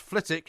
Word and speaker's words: Flitwick: He says it's pronounced Flitwick and it's in Bedfordshire, not Hertfordshire.